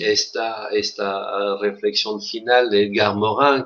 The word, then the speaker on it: Morin: De ahí esta reflexión final de Edgar Morin, que me permitirás pronunciarlo a la francesa. Edgar Morin, que sin duda es para nosotros el intelectual más ligado a nuestra autorreflexión universitaria, ¿no?